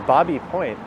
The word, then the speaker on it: Baby Point: on the left is known as Bobby Point although it's spelled b-a-b-y so it's not uncommon here people call it baby point that's one I've been